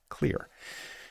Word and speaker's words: Xlear: It's Xlear, that's X-L-E-A-R pronounced "Clear."